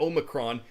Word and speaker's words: Omicron: Some are pronouncing that Omicron.